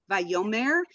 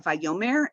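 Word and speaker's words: וַיֹּאמֶר: over the Torah 's so the accident is on the yo very important vayomer most of the time I'd say maybe 90 of the time you're going to have vayomer every once in a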